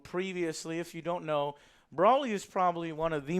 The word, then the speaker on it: Broly: know, it said Brawly on there, and he pronounced it Brawly, even though it's Broly.